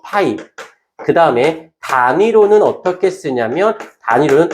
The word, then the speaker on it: 파이: 기호가 있어요.이 자석 자속 밀도라고 하는데 이걸 이렇게 파이라고 읽어. 파이.